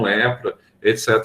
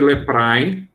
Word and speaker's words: leprae: Na antiga nação de Israel, você vê pessoas com lepra, etc. Tal. Aqui também é um micobacterium, tá? Só que aqui é Mycobacterium leprae. A gente escreve leprae, só que latim se pronuncia só a segunda vogal, isso a gente já sabe há muito tempo.